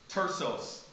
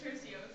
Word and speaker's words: Tercios: And so for that, I give Tersos best closing argument, prosecution. Did I pronounce that right? No. Help me, please. It's Tercios.